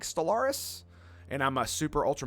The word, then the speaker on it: Stellaris: You need to check out Stellaris. I mean, it's Stellar Is. That's how you spell it.